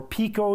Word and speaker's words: pico: 10 to the -9th, and pico, or pico, you'll hear it pronounced, is 1 times 10 to the -12th power.